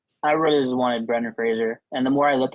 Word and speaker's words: Fraser: Everyone says Brendan Frasier. Fraser, like laser.